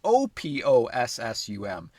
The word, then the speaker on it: opossum: Personally, I've always gone with the O in the spelling, but silent in the pronunciation.